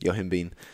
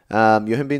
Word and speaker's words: yohimbine: it was like a misspelling Yoh I MBE yohimbine yohimbine is a fat loss supplement she's asking how much do you take for someone in a cutting phase how beneficial is you yohimbine 10 milligrams first name 3 I'm not gonna